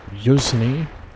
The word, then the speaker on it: Yuzhny: The town of, I might butcher this, Yuzhny. I think that's how you pronounce that. The H is silent, I believe.